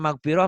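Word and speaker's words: مغفرة: Kemarin apa ya, harusnya magpiroh, magpirah. Magpiroh gitu ya.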